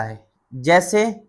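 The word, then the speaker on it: hedge: यह पढ़ा जाएगा एज एज माने किनारा एच ई डी जी ई यह है नहीं पढ़ा जाएगा। हैज हैज माने झाड़ी।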